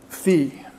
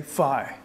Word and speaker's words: phi: of exiting unemployment is equal to V or as the Americans say Phi okay and that's just